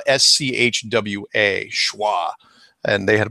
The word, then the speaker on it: Schwa: And it's spelled S-C-H-W-A, Schwa.